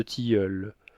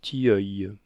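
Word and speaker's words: tilleul: Le long de chaque muraille règne une étroite allée qui mène à un couvert de tiule. Mot que madame Vocer, quoique né de gonflant, prononce obstinément Tiil.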